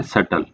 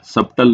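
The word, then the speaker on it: subtle: Option है सुटेबल, second है सटल। यहाँ पे आपको ये भी प्रोनाउंसिएशन पढ़ लेगी, यहाँ पे जो बी होता है वो साइलेंट होता है, सबटल नहीं होता है, सटल होता है, सटल बोला जाता है।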